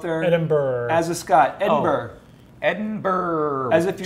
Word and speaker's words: Edinburgh: Correct pronunciation. Hold on, go up there. Edinburgh. As a Scot, Edinburgh.